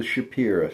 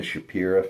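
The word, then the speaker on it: Shapira: That's in the hands of the Shapi family. And that's not just a southern pronunciation. The last letter of the word is A, not O. A.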